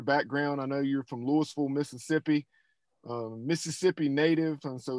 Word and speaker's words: Louisville: It is spelled like Louisville, the big city in Kentucky, but it's pronounced Louisville there.